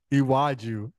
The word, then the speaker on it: Iwaju: Iwaju. That's it. Maybe I'll get it between now and Wednesday. Iwaju. It's pronounced how it's spelled.